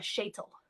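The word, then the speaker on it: sheitel: wig the wig in yiddish is called a shaytal that's s-h-e-i-t-e-l that's how i would spell it schaetel um so some places just allow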